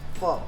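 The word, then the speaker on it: phở: boil and then we're ready let's assemble our fault by the way uh it's spelled p h o but it's pronounced fall as is in f fuh so you call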